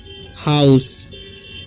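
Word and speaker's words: house: For food at the next, ठीक है, हाउस, क्योंकि एच से होता है ह और OU का उच्चारण जो है यहाँ पर आउ हो रहा है, ठीक है। ऐसी से होता है हाउस।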